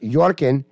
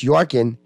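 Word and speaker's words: Joachim: now the Harry and Megan of Denmark Prince yokim pronounced yorkin prince jarkin it's spelled your Kim though York and I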